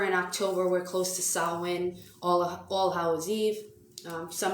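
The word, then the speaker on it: Samhain: now that we're in october we're close to sawwin all all hallways eve some of you do not reference sawin as halloween as salwin that is the correct pronunciation when you see sam kane it's actually said sawwin the witch's new year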